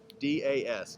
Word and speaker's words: Das: And I can spell it for you. Phanindromohan. Phanendramohan. But get this, his last name was 3 letters. D-A-S, Das.